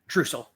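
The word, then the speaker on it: Druschel: Dusel.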